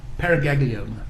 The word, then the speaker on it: paraganglioma: IS IT -- IS IT PRONOUNCED PARAGANGLIOMA? PARAGANGLIOMA.